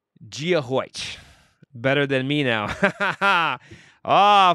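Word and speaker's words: Dia dhuit: This is where I learned the pronunciation. Giahoich.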